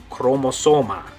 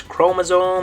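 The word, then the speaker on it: cromosoma: spelled with the CH chromosome and Spanish spelled this way with no h in it chromosoma okay so in English chromosome in Spanish chromosoma good and that is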